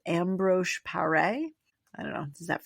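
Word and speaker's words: Ambroise Paré: It was called ambro par.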